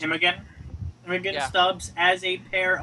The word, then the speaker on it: Imogen: Imogen, I believe, is how it's pronounced. Imogen Yeah.